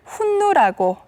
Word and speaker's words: 흉노: 실제로 몽골에서는 흉노를 훈누라고 발음하고 있습니다.